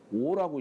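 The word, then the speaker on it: 於: 탄사로 쓰일 때는 어라고 읽지 않고 오라고 읽어요. 오라 이렇게 오 집의 경지라 하니 이 오라고 읽어요.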